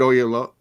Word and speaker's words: Oyelowo: Yeah, I can't remember how to pronounce. Is it Ken Oyelowo, the guy who played Martin Luther King in Selma? David Oyelowo.